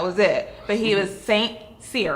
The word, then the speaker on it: St Cyr: But he was St Cyr, right?